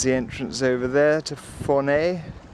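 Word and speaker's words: Fornells: That was the entrance over there to Fournay, written Fornals, but pronounced Fournay. Well, it's 10 o'clock.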